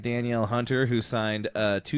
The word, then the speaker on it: Danielle: should be paid like Danielle Hunter who signed uh two years Daniel Daniel it is spelled like Danielle to fair I think